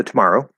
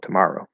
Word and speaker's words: tomorrow: why yeah um yeah so tomorrow it's stress on the in the middle on the second syll tomorrow tomorrow tomorrow but if I say